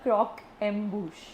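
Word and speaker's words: croquembouche: with the pronunciation please it's called क्रोक एम्बुश क्रोकंब इट्स a French word हां अ it's basically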